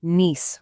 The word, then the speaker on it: niece: It has to be niece with that long e sound like piece of cake.